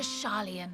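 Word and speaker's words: Sharlayan: Oh, welcome friends to Charian. That a is not pronounced.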